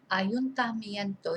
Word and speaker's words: ayuntamiento: So we to say it, break it down into syllables. Ayuntamiento. Ayuntamiento.